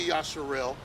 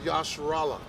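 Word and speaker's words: Yasharahla: You're going to say Yasharallah. You didn't say Yasharel. You didn't say Yisrael. You didn't say Yasharal. You said Yasharallah. You said it right.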